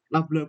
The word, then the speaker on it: nabla: Seper V kuadrat dc d dt ya, di mana Laplacian ini kan merupakan ya uh, nabla kuadratnya, ini bacanya nabla ya.